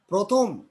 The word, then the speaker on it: প্রথম: 4, র ফলা যুক্ত আদ্য অ এর উচ্চারণ ও এর মতো হয়। যেমন প্রথম, প্রথম।